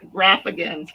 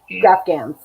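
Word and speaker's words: graphghan: Oh, I'm saying it wrong, right? Graphgans, yeah. Graphgans.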